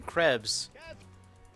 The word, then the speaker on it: Krebs: Bosun Krebs. Do you? With... rhymes with legs.